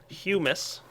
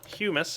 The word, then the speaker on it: humus: so there we go humus that's right I'm I'm kind of pronouncing it right now humus is the correct pronunciation uh I'm going to